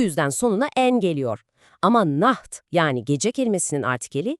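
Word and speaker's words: Nacht: Nah derken de o ç sesini gırtlaktan hafif bir hırıltıyla çıkarmaya çalışın. Naht gibi. Good night.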